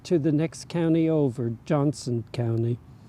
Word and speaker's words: Johnston: the next county over, Johnston County. Now, Johnston County is spelled with a T, but the locals don't pronounce the T.